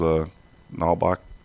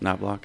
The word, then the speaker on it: Knobloch: And it sounded like a little bit of excitement with Marengo because Nalbach Did I pronounce that right? Knobloch, yeah. He's coming playing, back, yeah.